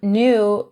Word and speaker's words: knew: And the verb knew is pronounced the same as the adjective knew.